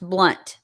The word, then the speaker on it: Blount: blunt blunt County and it's pronounced blunt b l u n t yes then I'm then